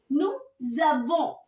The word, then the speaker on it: nous avons: While pronouncing, if your noun is ending with S, so we read these two together. And the pronunciation, now it will be little different from what we were pronouncing before. So it will be nous avons.